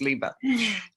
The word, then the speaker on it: Liba: Oh, and speaking of pronouncing wrong, my name is Liba, and because we've only met on, but just for everybody out there, my name is Liba.